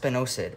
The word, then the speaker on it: spinosad: It's pronounced spinosad, and it's a really great thing for your garden.